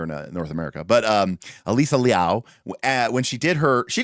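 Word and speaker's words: Alysa Liu: One happened during the Olympics, right, where um Alyssa Louu, actually her name is pronounced Alisa, but and it's Liao, but anyways, Alyssa Louu, as we say here in North America, but um Alisa Liao when she did her, she didn't even know,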